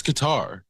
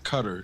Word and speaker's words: Qatar: that came from uh cutter or Qatar it's Qatar I I don't know I heard it from when I was working at rrz no it's definitely not cutter it's definitely not cutter